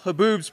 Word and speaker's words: haboob: In fact, reading this news article, haboobs, pronounced haboobs, are not unique to America's Sonoran Desert.